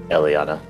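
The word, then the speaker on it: Eliianna: l i i a n n a correct Elana so okay we got to go down there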